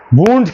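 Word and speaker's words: wounds: वुंड्स कहते हैं उसको, वाउंड नहीं, वुंड्स। इसकी प्रोनाउंसिएशन क्या होती है? वुंड्स, वाउंड नहीं होती, ठीक है, वुंड्स होते हैं।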